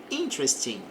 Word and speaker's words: interesting: The content of the book is very interesting. Então, na frase está dizendo o conteúdo do livro, of the book, is very interesting. Observe que o E antes do R aqui não é pronunciado.